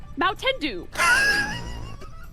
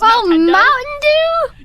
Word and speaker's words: Mountain Dew: with d okay like mendu why are you laughing did I say it wrong it's Mountain Dew yes like d was